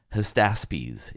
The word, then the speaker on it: Hystaspes: Hystaspes is how you say the entire name.